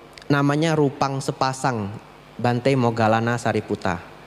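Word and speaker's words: Sāriputta: rupang sepasang Bante mogalana sariputa bahasa thaainya prak prak mogalana k prak saribut ya prak saribut itu bahasa thaainya mereka punya cara pelafalan yang berbeda Nah nanti dijualnya itu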